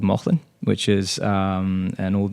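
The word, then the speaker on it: Mauchline: up in a little town called uh called Mothman which is um an old mining town how do you spell that m-a-u-c-h-l-i-n-e okay yeah it's um very cool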